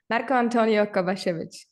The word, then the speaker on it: Marko-Antonio: and I have a special guest here today Marco Antonio welcome thank you thank you for having me